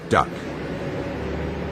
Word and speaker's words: DUKW: The best that the American GI could make of the unpronounceable DUKW was duck.